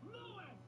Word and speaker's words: Luis: Oh, and Leon, you can at least pronounce his name right instead of Americanizing it. Louis!